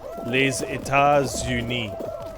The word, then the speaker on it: Les États-Unis: It does in pronunciation. Because S to U in French. It's called a liaison. Because it creates a Z noise. Les États-Unis.